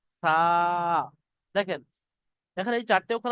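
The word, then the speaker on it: ث: এই সার যে উচ্চারণটা, এই সার উচ্চারণটা একটু হালকা করে করবেন, কেউ যেন এরকম করবেন না সা, সা, তাহলে ভুল হয়ে যাবে কিন্তু।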